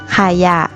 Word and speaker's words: ขยะ: หญ้า หนู หมา หมา แบบ ที่ 3 นะ คะ มี คำ ที่ ออก เสียง 2 พยางค์ โดย พยางค์ แรก ออก เสียง อะ กึ่ง เสียง และ พยางค์ หลัง จะ ออก เสียง วรรณยุกต์ ตาม พยางค์ หน้า เหมือน มี หอ นำ เช่น ขยะ สละ จะ ฉลาด ถนน ผวา ฝรั่ง ตลาด จรวด และ องุ่น เป็น ต้น ค่ะ ให้